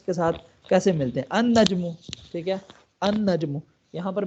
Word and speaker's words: النجم: وہی پڑھا جائے گا، بیکمز این النجم، ہاں دیکھیں نا اصل میں کیا تھا، النجم تھا، النجم، لیکن کیا بن گیا یہ النجم، ٹھیک ہے، النجم، ال، ہاں بالکل ال سائلنٹ ہو جائے گا۔ اسی طرح دیکھیں الرجل،